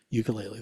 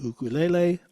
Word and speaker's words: ukulele: It's a concert ukulele.